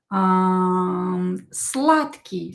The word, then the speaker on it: сладкий: Another example is сладкий, sweet. Сладкий. Сладкий. D will be pronounced as T. D is voiced, but it will become unvoiced T because it is located near unvoiced K.